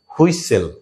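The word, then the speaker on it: whistle: হুইসেল, টি এবং ই silent.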